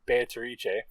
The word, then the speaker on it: Beatrice: islands, because the witch Beatrice is going to get you, or Beatrice, as Kinzo it's the Italian pronunciation.